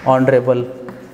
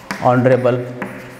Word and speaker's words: honorable: words are like this honor honor honest honest honorable honorable and our air so see just observe these